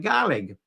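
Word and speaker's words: Gàidhlig: the spelling there and that's now today pronounced something like garlic uh so something it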